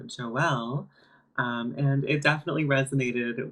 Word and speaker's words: Jo El: right now so yeah my name is Joelle and a lot of people would say like oh well or Joel or like they just they wouldn't pronounce it right one time I got